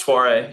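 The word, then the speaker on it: Soirée: Am I pronouncing that correctly? Soiree, you were close.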